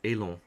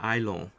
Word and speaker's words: élans: Well, Eli des élans, and it's not Ailon, it's Elon. Okay. Des élans, not Ailon.